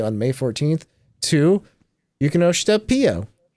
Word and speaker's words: Pio: And also happy birthday on May 14th to Yukinoshita Pio. Or Peo, as I should probably pronounce it, as I learned.